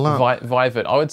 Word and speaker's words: Vivet: the name of vivek yeah viva could you spell that vivet i would say it's v-a-i-v-e-t so vivet um